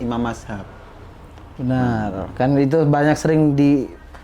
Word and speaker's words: mazhab: Baik, pertama kata secara pelafalan sebenarnya mazhab ya. Jadi kalau teman-teman bacanya mazhab itu lebih ke dialek. Ya. Karena di beberapa dialek itu ada yang nggak bisa baca zal, zot dengan presisi sehingga jadi z.